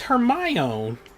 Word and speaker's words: Hermione: I was like, "It's Hermione."